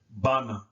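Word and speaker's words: بنى: n and the U the b letter is hard so we pronounce that Bana Bana so now this means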